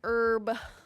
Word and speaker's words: IRB: Micross says, I heard people pronounce IRB as herb a lot. Herb. Herb. It's like Irvin or Irwin.